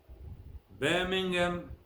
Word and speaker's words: Birmingham: hot sound is silent H is silent in the following ways it's not pronounced our honest owner